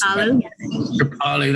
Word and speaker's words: Kripalu: Many teachers at many places like Kripalu, is that how it's pronounced? I know it's quite one of those. Kripalu, that's it.